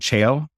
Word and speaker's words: Cheil: became the CEO of Barbarian and president of Chail North America, which is a holding company, which was founded by Samsung, which is... What was the name of the holding company? It's called Chail. Chail Worldwide.